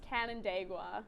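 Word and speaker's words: Canandaigua: and that is very incorrect chloe it is pronounced cannon dagua cannon oh i should have said that because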